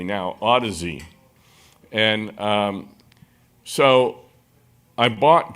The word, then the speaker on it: Audeze: a new company newer company called now I'm pronouncing it correctly now Odyssey and um so I bought just pretty much